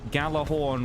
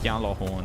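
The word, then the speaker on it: Gjallarhorn: Um there was on on the um Galah Horn rocket launcher or Yalah Horn as it's supposed to be pronounced.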